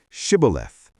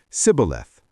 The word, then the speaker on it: Shibboleth: Jephthah's forces control the Jordan fords and use a password to identify Ephraimites, Shibboleth. Because the Ephraimites pronounce it Sibboleth, 42,000 are slaughtered.